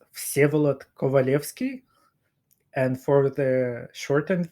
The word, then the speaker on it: Vsevolod Kovalevskij: name correctly for me so my name is pronounced calot kovaleski and for the short